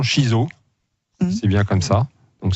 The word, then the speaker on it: shiso: à rouge ou alors je me suis la prononciation shiso c'est bien comme ça donc c'est une plante